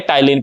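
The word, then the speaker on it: ptyalin: हैं क्या बोलते हैं टाइलिन पी साइलेंट है यहां पर पता नहीं लगाते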